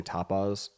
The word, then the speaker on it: tapas: So pronouncing that one is hard because when I say tapas, most people usually hear the word topless.